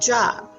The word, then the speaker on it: Job: Now, Job is spelled the same way as if we spelled job. So J-O-B and J-O-B. So his name is pronounced Job.